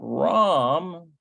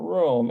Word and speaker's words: רם: It's not Rome, it's Ram. Got to be RAM.